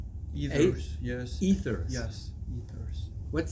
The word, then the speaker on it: Aethers: Aethers, yes.